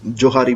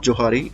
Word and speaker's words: Johari: So maximum लोग इसे बोलते हैं जोहारी window. So इट्स नॉट जोहारी, इट्स जोहैरी।